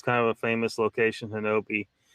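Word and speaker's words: Honobia: This is close to Hanobi, Oklahoma. It's kind of a famous location, Hanobi. It's spelled Hanobia, but they pronounce it Hanobi.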